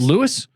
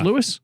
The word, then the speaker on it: Louis: Is it Lewis? Is it Yeah. Lewis?